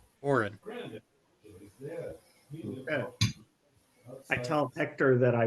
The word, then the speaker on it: Orin: but his name is Orin it sounds Orie Orin a or oh crap I didn't even get the right vow o r i n Orin I tell Hector that